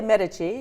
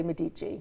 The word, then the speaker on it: Medici: Yeah, pronounce the name again for me. Well, I say Medici. Medici. I do hear some people say Medici.